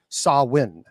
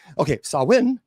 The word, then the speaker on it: Samhain: Okay, our story begins thousands of years ago with the ancient Celtic festival known as Samhain. Now, by the way, it is not Samhain. That is an incorrect pronunciation.